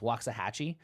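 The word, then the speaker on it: Waxahatchee: I and I believe I'm going to say this artist name correctly because it's spelled like the place in Texas waah Hatchi um and uh uh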